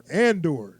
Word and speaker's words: Andor: It sounds stupid because I know when I look at it, it's like in the door. Andor. That's how you say it.